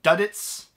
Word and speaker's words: Duddits: So, he pronounces his name Duddits instead of Dudley, and so that's how